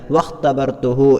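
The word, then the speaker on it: واختبرته: ചേർത്തി വായിക്കുമ്പോൾ അത് ഉച്ചാരണത്തിൽ വരികയില്ല. വഖ്തബർതുഹു എന്നാണ് നമ്മൾ അവിടെ വായിക്കാറുള്ളത്. ഓക്കെ, അപ്പോൾ വാവിന് ശേഷം നമ്മൾ ഖാ ആണ് ഉച്ചരിക്കാറുള്ളത്. അതിന് ഇടയിലുള്ള ഹംസ അത് ഹംസത്തുൽ വസ്ൽ ആയതുകൊണ്ട് തന്നെ ഉച്ചാരണത്തിൽ ഉണ്ടാവുകയില്ല. എന്നാൽ ഇഖ്തബർതു സ്വദീഖ എന്ന് പറയുമ്പോൾ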